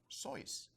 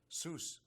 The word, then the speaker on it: Seuss: Seuss is the correct, like Joyce or voice. That's the pronunciation of my name." And Theodore Geisel, Theodore Seuss or Seuss Geisel was his full name.